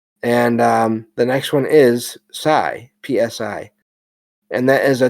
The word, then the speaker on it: psi: The letter P is silent. And the next one is psi, PSI.